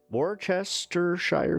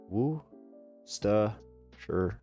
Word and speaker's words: Worcestershire: Worcestershire sauce. It's pronounced Worcestershire sauce.